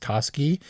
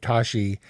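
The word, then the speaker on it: Toschi: Tashi Tatski Tashi uh Tashi mispronounced throughout as TSI but this was actually the inspiration for George Lucas who really took to this case and was like all into Dave Tashi as a detective and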